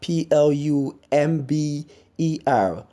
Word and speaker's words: plumber: debris or debris not nervous then we have PLU MB er Plummer people get to see plumb bar there's